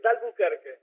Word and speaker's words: d'Albuquerque: Siento que 9 de cada 10 personas lo pronuncia mal, así que no te preocupen. Bueno, ¿cómo sería entonces? Es D'Albuquerque.